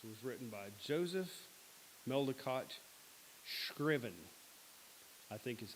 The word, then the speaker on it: Scriven: What a Friend We Have in Jesus was written by Joseph Meldicott Scriven. I think is how you pronounce it. Scriven. It's Scriven.